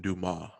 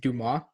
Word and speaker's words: Dumas: So Jason Dumas, who's like the Sixers beat reporter, I believe it's pronounced Dumas. Yes, this is is pretty good. Dumas.